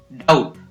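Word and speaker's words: doubt: Next है डाउट, अब डाउट में भी B है वो साइलेंट रहता है, D, ड, आउट, डाउट, B है वो साइलेंट रहेगा।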